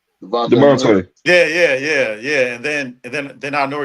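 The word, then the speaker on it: Dejounte: Devontae.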